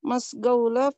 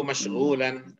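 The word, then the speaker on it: مشغولا: Itu atruku hadhil dirasati indama kuntu masgaula fi maktabi. Nah, ada yang perlu kita luruskan sedikit cara bacanya. Kidtu atruku hadhid dirasata indama kuntu masyghulan fi maktabi. Itu bacanya. Boleh diterjemahkan?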